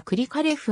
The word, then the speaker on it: クリカレフ: 生の日本語表記は一般にはクリかレフが広くも用いられるがアクセントありのであるためくりか呂布と表記するのがロシア語での発音により忠実であるくりかレフはロシア